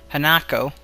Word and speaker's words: Hanako: in the room after Han Hano Jesus no hanako I guess you could pronounce it Hano um it's I whatever